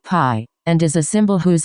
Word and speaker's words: pi: by 27, where z is a Greek letter, pronounced pi, and is a symbol whose approximate value is 3 and 1/7.